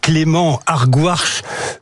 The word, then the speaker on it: Clément Argouache: Avec nous ce matin, notre invité, c'est Clément Argouache. Je l'ai bien prononcé. Parfait, bonjour. c'est nickel.